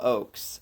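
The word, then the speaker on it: Ochs: Phil Oaks. Um Oaks is spelled O C Hs. Um not like the oak tree.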